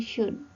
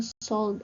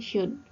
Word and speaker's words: should: Perhatikan ya, untuk pengucapannya O dan L ini silent letter, jadi nggak perlu kita ucapkan. Jadinya should gitu. Jadi bukan should atau should, tapi kita mengucapkannya dengan should.